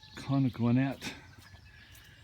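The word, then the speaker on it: Conodoguinet: over there is the Conagwinet River or Creek. That's how they pronounced it. Although a little French I had in high school, when you have an ET at the end, it's an A sound, like Conagwinet, but that's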